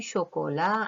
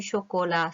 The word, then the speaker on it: chocolat: Du chocolat, c'est le T qui est une lettre finale.